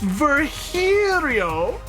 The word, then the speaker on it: Virgilio: You look winded, Virgilio. It's pronounced Virgilio. Virgilio. No, I'm pretty sure it's Virgilio.